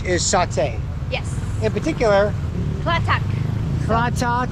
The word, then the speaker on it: Klathak: Klathak. Klathak, yes.